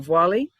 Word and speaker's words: Diwali: Diwali.